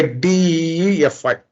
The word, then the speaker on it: DeFi: smart cards smart contacts defy pronounced by dfy Defy is a short